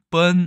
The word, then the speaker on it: 賁: 발음은 뻔 아니면 삐인데 삐로 많이 읽는 것 같아요.